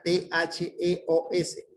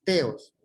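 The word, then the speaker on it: θεός: es theos, o sea, T-H-E-O-S. Podemos decir teos, pero se leería theos.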